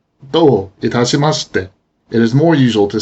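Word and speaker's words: どういたしまして: どういたしまして、 In this pattern, both do and itashimashite individually are accented. But it's not uncommon for the final verb ending in mas to become unaccented, especially in expressions like this. It is possible to say this sentence slowly and deliberately as 2 phrases. Do itashimashite.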